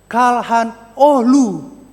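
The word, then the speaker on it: Çalhanoğlu: Kalau Bapak Ibu baca sekarang bacanya gimana nih Bapak Ibu Saudara? Hakan Kal H noglu ya. Nah, coba kita lihat bagaimana nih UEFA Champion menuliskannya ya. Nah, itu dia Kalhan Oh ya.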